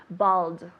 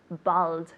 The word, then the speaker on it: bald: right silly mistake but bald we say in english tell me bold good good pronunciation of the d at the end ball no bald bald very good all right